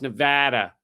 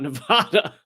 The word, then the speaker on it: Nevada: there, you go, not So it's Nevada, not Nevada. I think I have that right.